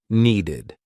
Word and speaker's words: needed: If a verb ends in t or d, the ed ending will be pronounced ID. Want ends in a t. Wanted. Need ends in a d. Needed.